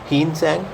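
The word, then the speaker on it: Hiuen Tsang: तो अगर बात की जाए तो फर्स्ट वन इज़ योर हीनसंग। ठीक है? क्योंकि टी इसमें साइलेंट होता है।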